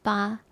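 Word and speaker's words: 八: and you're okay for 8 it's a lucky number because 8 means fa fa means prosper and the pronunciation is very close to eight in Chinese which is ba.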